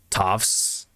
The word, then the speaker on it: Toph: What happened to the actor playing Toph? What about him? Oh, the big. You mean the big? My name is Toph. It rhymes with tough.